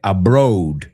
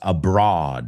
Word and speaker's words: abroad: Es que mucha gente dice abroad, pero no, es abroad.